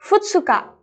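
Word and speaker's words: ふつか: Nah, cara pengucapannya seperti ini ya, minasang. Tanggal 1 dibaca dengan suitachi. Tanggal 2, futsuka.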